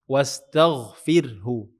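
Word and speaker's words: استغفره: Nah, sama seperti wastagfiru. Kenapa kita baca tipis? Karena ini sukun ro sukun. Sebelumnya ada kasrah setelahnya ada huruf tipis. Wastagfirhu.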